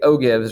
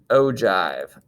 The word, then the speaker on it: ogive: to you guys say that it looks like oh gibbs right this is actually pronounced ogive so it's oops ogives oh given that's oh